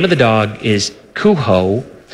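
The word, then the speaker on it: Cujo: of the dog is kho it's a j with the Spanish pronunciation and it's mistifying to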